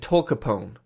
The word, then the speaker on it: tolcapone: I think about the American gangster Al Capone when I try to remember these drugs and how to pronounce them. Entacapone and tolcapone.